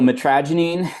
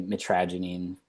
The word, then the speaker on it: mitragynine: So, mitragynine, that's again how I say it. You can You can look up online. I've I've been on various things like Reddit and and, uh, how people prefer pronouncing it, but you'll see like mitragynine, I say mitragynine. It's gives off my, uh, Pittsburgh roots a little bit, mitragynine.